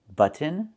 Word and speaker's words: button: You can use a real T and say kitten, button, and cotton. Or do the stop T and fall to the N.